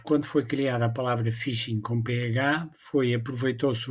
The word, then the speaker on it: phishing: eu irei produzindo este novo episódio sobre o Fishing é uma versão mais atualizada do tratamento desta